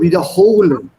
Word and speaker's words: wiederholen: Yeah, so wiederholen. Put the stress on this here.